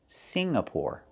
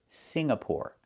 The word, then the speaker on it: Singapore: It's not Singapore. It's Singapore. The NG makes a sound M in your nose. Sing like when you sing a song together. Singapore. Not Singapore, but Singapore.